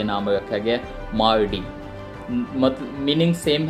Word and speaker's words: Mardi: तो वो जो थे वो बोलते थे मार्डी, MARDI, मार्डी।